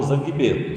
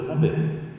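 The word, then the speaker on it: Zangbeto: Vocês leem errado como zanguebeto, só que se pronuncia zambeto.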